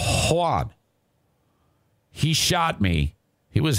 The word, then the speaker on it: Juan: And this dude by the name of Juan, and that's how he pronounces it, Juan, he shot me.